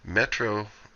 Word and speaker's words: Metro: I'll go to that Metro sounds like the word metronome and really it is